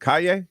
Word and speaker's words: Cay: Now I heard I was saying it wrong. Was it Cay? Yeah.